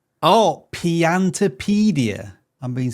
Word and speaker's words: Piantapedia: Piantopedia. Oh, Piantopedia.